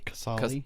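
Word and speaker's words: Qasali: this mage or this quizali quisali I can't say the ambusher a mage I was think how do you say that word casali casali yeah casali I was thinking of pride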